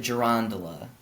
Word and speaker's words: girandola: So I kind of throw the emphasis in the middle of the word a little bit. I pronounce it gerondola.